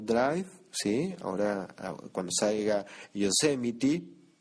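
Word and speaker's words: Yosemite: sí Ahora cuando salga yosemity creo que lo dije bien yosemity Oh Cómo cuesta pronunciar eso pero sí así se pronuncia Ahora cuando salga yosemity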